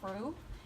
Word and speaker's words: roux: Roux? Am I saying it right? Roux, yes.